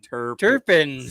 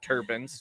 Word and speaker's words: Terrapins: Terrapins? Terrapins. The Terrapins. Terrapins, yeah. Yeah, it's pronounced terrapins, not turbans.